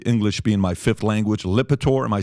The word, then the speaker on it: Lipitor: listen, excuse my English being my fifth language, Lipitor. Am I saying it correctly? Yeah, it is. Okay, all right. So Lipitor, Rob, I'm going to send this to your MacBook.